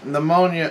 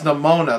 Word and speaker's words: Nimona: haven't seen yet um pneumonia pneumonia I think that's how you pronounce it pneumonia Lamona no it's nimona that's it sorry I was just saying it like it's a disease or something um I haven't seen